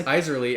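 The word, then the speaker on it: Isserley: It takes place in Iserly's mind, which I'm glad your pronunciation in your head is the same. Yours was Iserly. Was Iserly, and well, mine was,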